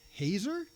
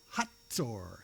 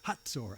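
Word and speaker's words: Hazor: Who reigned in Hazer? No. Hatsor. Hatsur.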